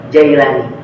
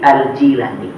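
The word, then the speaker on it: al-Jilani: Jilan itu nama daerahnya dari negeri Jilan bukan Jailani Bukan aljailani tapi aljilani itu cara bacanya yang tepat seperti itu kemudian karena Syekh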